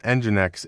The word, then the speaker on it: Nginx: Nginx, pronounced engine x, is not thread-based.